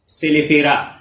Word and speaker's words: Caelifera: عربی میں الجراد، اردو میں ٹڈی اور انگلش میں سیلیفیرا کہتے ہیں، جس کی سپیلنگ ہے CAELIFERA.